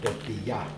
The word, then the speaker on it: tortilla: In Spanish, the 2 L's together is pronounced like a ya, so it'll be tortilla.